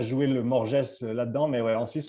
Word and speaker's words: Morges: je vais être à Morges c'est ça si je prononce bien euh dans une ouais en Suisse en Suisse dans une boxe c'est Morge c'est Morge les on prononce pas les ouais on est on